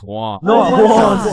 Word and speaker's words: Juan: That's just how it's pronounced. Jan. Is there Jawan in the room? It's Juan.